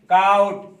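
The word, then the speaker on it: caught: GH silent है। और ऐसे आप ले सकते हैं काउट, CAUGST, काउट।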